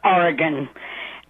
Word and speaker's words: Oregon: Okay, first thing, it's pronounced Oregon.